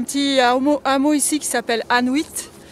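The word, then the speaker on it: Annuit: Et à savoir qu'il y a un petit hameau ici qui s'appelle Anuit. Ça s'écrit A-2-N-U-I-T, ça sonne comme Inuit.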